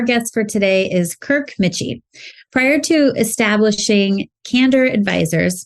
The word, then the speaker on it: Michie: Andrea and our guest for today is Kirk Mitchie prior to establishing cander advisors did I pronounce that right Kirk you got it all